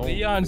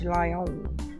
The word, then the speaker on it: Lion: You mean Lion? Yes. Sounds better. It's not Lion. Sounds way better. It's Lion. Leon or Lion? Leon sounds way better, bro. It's Lion.